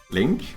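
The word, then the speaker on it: LINQ: using what is it called link Q Link Link or link Q uh can not be found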